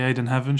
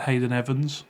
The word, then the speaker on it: Ayden Heaven: My mum can't say his name. Can't say Heaven. Can't say Hayden Heaven. She said Hayden Evans every time.